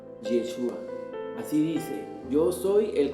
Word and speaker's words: Yeshua: jaguar hoy ese cuerpo se pronuncia actualmente en el hebreo actual yeshua así dice yo soy